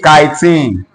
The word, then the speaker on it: chitin: Pronounce this for me. Please, this is not cheating. This is chitin.